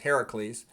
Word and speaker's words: Hercules: Okay, so anyways, then what saved Prometheus was Hercules, also can be pronounced Heracles.